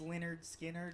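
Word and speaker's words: Lynyrd Skynyrd: kind of self-titled it wasn't it was spinners pronounced leonard skinner oh i i know you're talking about yes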